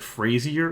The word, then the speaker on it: Fraser: Moving into the Fraser Valley, I'm told apparently this is supposed to be pronounced like Frazier or something like that, and my one comment with that is you're pronouncing it wrong if that's the case.